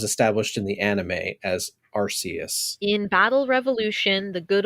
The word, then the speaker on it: Arceus: It is Arceus, right? Yes, it's Arceus. You also missed the pronunciation Arceus, which I have heard in some reviews as well.